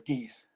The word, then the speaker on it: Gies: Pronounce it Yep. correctly? Gies? Okay. Yes, it is Gies.